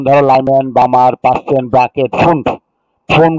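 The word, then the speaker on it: Pfund: Lyman, বামার, পাস্টেন, bracket, ফুন্ড, phone বা ফান বলা হয় এটাকে। পি এর উচ্চারণটা হবে না, ফোন বা ফান উচ্চারণ করা হয়।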